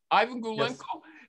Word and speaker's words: Iwan: this guy's name is ivan gulenko have i got it right ivan okay but why do you